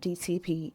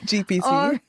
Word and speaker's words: GPT: So, I would go into chat GTP. Chat, how do you say the word? Chat GTP. GPT.